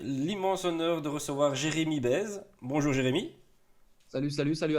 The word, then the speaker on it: Baise: Et Jérémy Bez, hein, le prénom ne s'invente pas non plus, on le prononce Bez, hein, c'est bien de le dire aussi parce que certains se